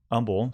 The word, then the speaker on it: Humble: with an H almost like humble but it's pronounced humble so H um BL e Texas seven seven